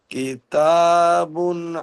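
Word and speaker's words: كِتَابٌ: কেতা কেতাবুন হাকিমুন। কেতা নয়, কিতা।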